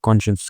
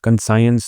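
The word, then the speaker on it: conscience: और इसकी प्रोनाउंसिएशन होती है कॉन्शियस। कंसाइंस नहीं कॉन्शियंस कुछ उल्टापुल्टा नहीं बोलना। कॉन्शियस बोलते हैं इसको।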